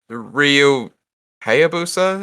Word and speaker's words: Ryu Hayabusa: just slightly different right yeah so i mean ryu hayabusa is how you pronounce it uh ryu hayabasa i think ayobasa